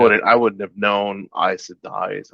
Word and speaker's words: Aes Sedai: It's so weird that, like, um I I learned all the pronunciations from the audiobook. Me too. Like I Yeah. wouldn't I wouldn't have known Aes Sedai is how you say it.